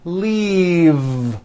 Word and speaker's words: leave: has an unvoiced F the word is leave with a voiced V keep the voice in going throughout the whole word and voice the V Lee like that if you stop the voicing at the end of the vowel E then you would be saying leaf with an unvoiced F and the word we're